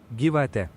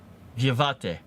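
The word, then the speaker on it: gyvatė: Gyvate. Gyvate. That is Lithuanian. Oh, here, Luxembourgish. Oh, they don't have a pronunciation for this one, but this is how it is spelled in Luxembourgish.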